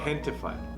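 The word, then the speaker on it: Gentefied: Gentified. Gentified. Okay, Yeah. Gentified. Hentified. Hentified. Hentified, like gente, like people. This is my people. Like gentrified.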